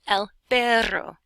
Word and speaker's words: perro: And if you want to say dog, instead of but, which is pero, you say el perro, and you roll your R's, which eventually you can do.